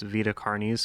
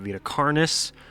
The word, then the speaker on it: Vita Carnis: Vita cares for you apologies for mispronouncing it at the beginning of the video I forgot that they they call it cares I've been calling it VA carnice for way too long um I hope